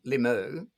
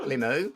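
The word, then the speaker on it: Limoux: it so remember that limu wow um where is that is it in france yeah l-i-m-o-u-x i say limu as if i know my french pronunciation but yeah yeah yeah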